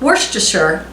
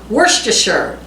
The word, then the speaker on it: Worcestershire: need one teaspoon of worcestershire worcestershire the correct pronunciation is not shire sure so worcestershire is how